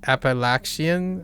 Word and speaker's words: Appalachian: You're from Jersey, so it's correctly, aka it said it correctly, aka Appalachian.